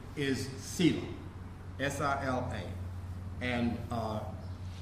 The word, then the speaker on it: Sila: So in Buddhism, that's called S-I-L-A, Sila. Some people pronounce it Shila. Depends, I think, with the Sanskrit or Pali.